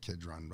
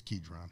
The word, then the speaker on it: Kidron: the book ketron Kidron how do you say Kidron I say Kidron I don't know maybe it's kedron yeah it doesn't matter